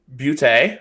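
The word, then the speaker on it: Boutte: Keyshawn Butte, or Butte, however you want to pronounce it. Well, he says booty, which I think is absolutely insane, but yeah, I'm not going that route.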